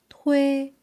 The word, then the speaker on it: thuê: And you need to round your lips for uê, thuê. All right? Let me try. Thuê. Tôi xe máy. Better? Yeah, much better.